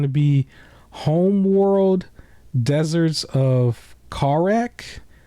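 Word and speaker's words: Kharak: be Homeworld deserts of car wreck I think the H is silent I think it's uh k h a r a k so that's from August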